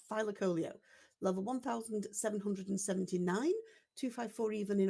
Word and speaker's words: thylacoleo: I've always called it thylacoleo, but whenever I've seen a TV program or documentary about it, it's always been pronounced by the experts as thylacoleo. Thylacoleo. Well, the Leo's been stressed.